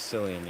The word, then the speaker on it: Cillian: It's always Cillian. Yeah. Like Cillian, yeah, of course. C. Yeah. It's like how Cillian or S can be or C can be pronounced like an S. Like cyan.